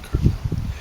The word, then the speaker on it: Carmel: Spelled like caramel, but I think he said like the Spanish word Carmel.